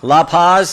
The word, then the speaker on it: La Paz: are and I want to make sure I pronounce these loophos Lou Lou Paz like to say that County right La Paz okay County Sheriff that's that's what a Buckeye